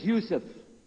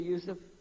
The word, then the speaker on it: Yusuf: we'll work on it sh my name is Yousef can you say Yousef you say Yousef you're very good I wish